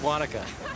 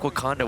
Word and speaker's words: Wanaka: It's Wanaka. It's so weird hearing Wanaka forever, though. It sounds like Wakanda when you say it like that.